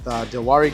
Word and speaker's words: Dwari: We locked up five of the dealers with Dwari Group. That's how you pronounce it. Remember, we were trying to see if the W was was silent cuz they were pronouncing it without the W.